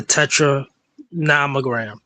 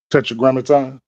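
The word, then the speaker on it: Tetragrammaton: There are certain aspects and one of these aspects say for instance people may talk about the tetra namogram tetetrogrammaton more likely I mispronounced it.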